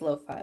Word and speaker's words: lo-fi: some low-fat coffee luffy is it loafy or lo-fi i never know how to pronounce it all next time oh it is low-fi okay lo-fi i've been pronouncing it loafy this whole thing time in my head oh actually that reminds